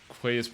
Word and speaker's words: Quays: asking about it ah bull quays oh yeah it's pronounced key right we've had this discussion